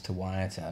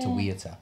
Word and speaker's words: Te Wiata: So, just going back to what I was saying before, everybody's always mispronouncing your name as Tawaita, not Tawiata. Yeah, or Tawitatia, you know, or Tawati, which actually is a nickname as well.